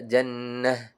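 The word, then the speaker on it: جنة: Nah, dibaca ha sukun jannatin dibaca jannah.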